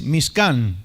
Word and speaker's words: Mishkan: Tabernáculo, si ustedes lo quieren anotar, en hebreo es Mishkan. Mishkan. Se puede escribir como se pronuncia, Mishkan con C, o M-I-S-H-K-A-N, Mishkan, que quiere decir morada.